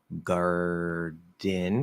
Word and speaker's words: garden: We do have some special interesting cases like garden. Is at the start of an unstressed syllable. It is between two vowels, so we can flap it. That's the trigger for the flap. It has to be between two vowels and at the start of an unstressed syllable. Garden, you could do a weak D. Sounds a little clearer. Garden, you flap it.